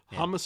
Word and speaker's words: Hammes: think it is stephen how do you pronounce it against thomas thomas hummus among us hummus among us that's at least how it was pronounced on the maynard gig all right thomas very